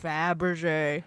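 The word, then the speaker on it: Fabergé: Bab ashame no it's not it's fab rachet Faberge I say she can't say it once then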